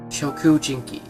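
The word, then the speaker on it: Shokujinki: don't know for sure Shoku Jinky as it's pronounced in Japanese language or human eating goat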